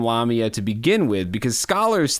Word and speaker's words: Lamia: Lamia, insomnia. It rhymes.